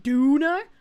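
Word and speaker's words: Döner: It's more properly pronounced Duner. The doomer. The doomer kebab.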